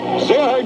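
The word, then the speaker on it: Gerard: Zerhard Gallant is a correct pronunciation. Okay, if you want to put the French pronunciation to it, Coach.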